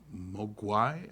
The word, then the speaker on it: Mogwai: In Cantonese, Mogwai means devil, demon, or gremlin. The Mandarin pronunciation is Mogwai.